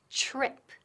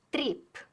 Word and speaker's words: trip: Trip. La TR. Now notice, it sounds like ch, como ch, ch, y después R. Trip. Trip. No es trip.